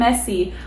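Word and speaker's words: Emezi: to say somebody's name her name is pronounced as a quake a m z mse a quake and messi oh my god so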